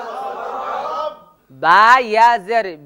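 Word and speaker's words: رَبِّ: ওখানে ভুল করে ওই রব্বিতে লম্বা করে টান দেয় মনে রাখতে হবে রব্বিতে কোন টান হবে না উচ্চারণটা হচ্ছে রব্বি আর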